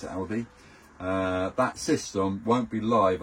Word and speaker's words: Alde: If I haven't got that switch turned on, the Alde, or the Alba, however you wish to pronounce it, A-L-D-E, for me it's Aldi, that system won't be live on mains electrics unless that is turned on.